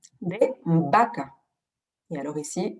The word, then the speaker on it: vaca: Et alors ici, vous avez bien remarqué qu'on ne prononce pas du tout le V comme un V à la française qui vibre. Hein, c'est pratiquement comme un B, vaca.